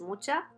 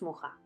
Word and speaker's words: Mucha: tenemos que hablar de alfons mucha o como estaría mejor pronunciado alfons moja fue el máximo exponente